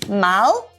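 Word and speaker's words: مال: Mal. Is it malon or mal? Mal. Mal. We're getting words from the guys. It can be mal or it can be flus.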